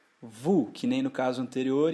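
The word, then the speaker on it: vous: mais corriqueiramente o vocês vu vu que nem no caso anterior então eu tenho o com u eu tenho o som de u portanto e o s não é pronunciado vu eles Olha o que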